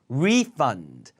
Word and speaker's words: refund: 리가 아니라 re죠, re. 발음 강세평 강의에서 했죠. refund. 힘줘요.